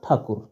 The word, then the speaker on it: ठाकुर: अंग्रेजों ने ठाकुर शब्द का उच्चारण अपनी सहूलियत के लिए थोड़ा बदलकर टैगोर करना शुरू कर दिया। ठा ध्वनि को उन्होंने बदलकर टे या ट कर दिया। कुर ध्वनि को बदलकर गोर कर दिया।